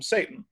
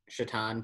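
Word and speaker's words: Šatan: player but i guess everybody calls him satan which that's exactly how his last name is spelled i wish chaton played for the devils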